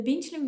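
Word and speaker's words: 冰淇淋: The Bīngqílín video isn't a failure, it is a success.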